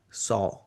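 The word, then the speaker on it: sauh: The feet you touch like this with a cross and then you say the mantra saw. S A U H.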